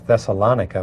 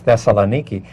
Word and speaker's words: Thessaloniki: say that this is thessalonica but of course the correct pronunciation is Thessaloniki and we're hearing that